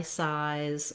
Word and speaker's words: size: So for that, you can think about the I size or another word with that I vowel to help you with the I. Another suggestion would be to think of size 5, matching that vowel.